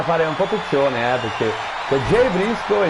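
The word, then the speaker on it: Jay Briscoe: Qui bisogna fare un po' attenzione, perché Jey Briscoe e Jey Uso si scrivono in maniera diversa, ma si pronunciano uguale.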